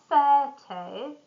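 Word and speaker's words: thirty: 13, stress on the end, or 30, and here we have stress on the beginning, on the first syllable.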